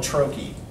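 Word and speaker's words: trochee: The inverse of an I am is called a troche, T-R-O-C-H-E-E. And a troche is a stressed syllable followed by an unstressed syllable.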